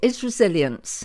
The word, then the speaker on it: Isresilience: Isresilience. Have I said it right? Said it correctly. Yes, you said it beautifully. Right. Isresilience. Isresilience.